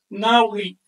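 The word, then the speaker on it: nahui: 4 puntitos valen 4 y se pronuncia Naui.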